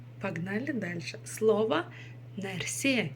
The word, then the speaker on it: нәрсе: Нәрсе. И ударение ставится обычно на последний слог.